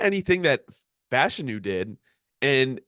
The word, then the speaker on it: Fashanu: So I have a faller as Olu Fashanu and Fashanu, actually.